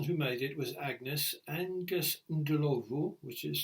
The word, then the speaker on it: Ndlovu: Um again, it's one of these sad occasions where the person who made it was Agnes Ndlovu, which is spelled n d l o v o, Ndlovu.